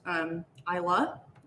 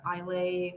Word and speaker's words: Islay: And it is pronounced Islay if you go to Scotland. If you pronounce it Islay or Isla, I don't think anyone's going to hit you over the head, but you might get corrected.